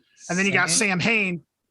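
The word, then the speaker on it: Samhain: and then you got Sam Hayne pronounced how is it pronounced then Sam Hayne I think it's sauwin what yeah I think that's it so did Danzig lose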